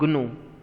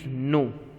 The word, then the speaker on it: gnu: It is not gnu. Please don't pronounce it like that. It is nu. G is silent.